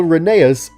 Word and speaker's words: Rheneas: It's pronounced Rheneas in the TV series and...